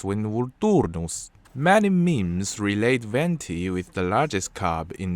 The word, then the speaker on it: Venti: Venti, the animal Archimbarbatos, is pronounced Venti in Latin.